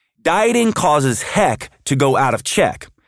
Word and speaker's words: HEC: energy and Cravings or what I call HEC pronounced HEC dieting causes heck to go out of